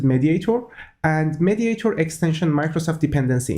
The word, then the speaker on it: MediatR: have a mediate R let's pronounce it mediator and mediator extension Microsoft